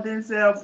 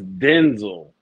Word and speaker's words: Denzel: else have I seel his name is Denzel Benzel y'all been saying it wrong for years his it's Denzel but people been saying it wrong so long he just go with it I believe you that's